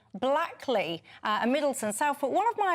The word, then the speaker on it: Blackley: Graham to educate you on how to say Blackley? Blakely. Blakely.